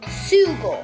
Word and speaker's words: sugar: But instead, it's spelled sugar. Sugar. Yeah. Yeah, so why is the S pronounced as sh?